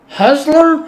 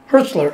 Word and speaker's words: Hertzler: Husler. I thought how you pronounce Husler. How you pronounce his name? J.G. Hertzler, yeah. Hertzler.